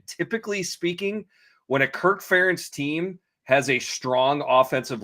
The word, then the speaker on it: Ferentz: First of all, good job saying Kirk Ferentz, not Ferentz, as people oftentimes mispronounce it.